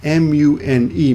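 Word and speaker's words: 胸: Now this kanji here is usually pronounced mune, M-U-N-E, mune, mune. But when you pair it with the ke over here, oh no, I meant this one, right?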